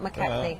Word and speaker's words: McKechnie: McKechnie, I've been going with, but they've worked together quite a lot. McKechnie, yes, Ranald McKechnie.